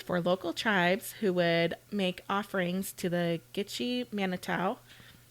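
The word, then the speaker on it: Mackinaw: spelling for the island maol city is m a c k i n a w right but they're both pronounced Ma so I unless unless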